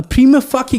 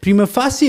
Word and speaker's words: prima facie: Prima facie is the acceptable pronunciation. It's a Latin pronunciation, a Latin word. People who have not studied Latin would not know how to pronounce it, that they use the normal English vernacular to interpret the Latin.